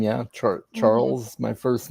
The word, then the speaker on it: Charles: my first name yeah charles my first name and there's only a few times i've had mine actually mispronounced like sometimes people will say carl or really yeah i'm like